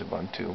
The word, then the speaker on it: Ubuntu: default drivers in Ubuntu that's an African word I think that's actually how it's pronounced but uh he says a bun too but anyway this is